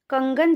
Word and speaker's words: कंगन: कैसे लिखेंगे पहले हम कंगन जो शब्द है उसको पढ़ेंगे यानी कि उसको उच्चारण करेंगे कंग ग न तो कहां पर आ रही है अं की आवाज क